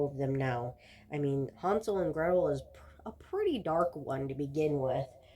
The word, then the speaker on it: Hansel: Hansel and Gretel, and I do say call it Hansel instead of Hansel because um, my grandma was German, and it is a German folktale, and in German it's pronounced Hansel and not Hansel, um, because it's Hans.